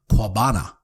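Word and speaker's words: Coabana: the local native americans call it kwabana which is spelled c-o-a-b-a-n-a which got shortened to cuba so that's really the founding of cuba was 1492.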